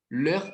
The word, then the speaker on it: leurs: O adjetivo possessivo dele, então, é leur ou leur avec S. Não falhe o S, é a mesma pronúncia.